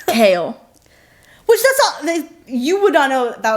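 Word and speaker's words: Chaol: yes but I'll the a good example is kale in this it's kale it's one syllable that's so it's one kale so until I heard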